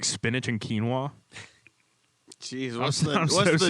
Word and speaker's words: quinoa: pretty good people slaps i used to think it was pronounced quinoa yeah that's how it's spelled this quinoa should be k e e n w a h spanish word i'm